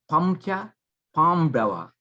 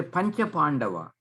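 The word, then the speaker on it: पञ्च पाण्डव: You don't say Pamcha Pamdava. You say Pancha Pandava.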